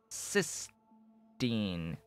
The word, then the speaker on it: cysteine: it's required for cysteine cysteine t-i-n-teen cysteine that's how that's how i'll pronounce it anyway uh you need it